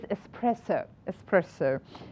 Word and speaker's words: espresso: Espresso, it is espresso. So it was really interesting, this pronunciation challenge.